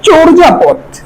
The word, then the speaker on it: চর্যাপদ: প্রদত শব্দ আছে চর্যাপদ এটা উচ্চারণ চর্যাপদ চর্যাপদ কারণ আমরা এখানে চর মত চে ম চরপদ খেয়াল করবে এই যে অন্তস্থীয় জ আমরা যখন উচ্চারণ করি সবসময় বর্গীয় জ লিখতে হবে চরজা পথ এরপরে রাষ্ট্রপতি রাষ্ট্রপতি আমরা